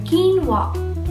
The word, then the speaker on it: quinoa: जेमिति मो किछ टाइम को बुरु थिली ता स्पेलिंग जोबु किनोआ कहि के कोहंती हेले ता करेक्ट प्रोनंसिएशन होची किनोआ या हम को निश्चय जानिबा कथा के गोटे